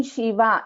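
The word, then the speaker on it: शिव: So in Shiva, it is Sha. This is a Talavya Sha. In Shanmukha, this is Sha. So this is Murdhanya Sha. So Sha and Sha. Shiva, Shanmukha.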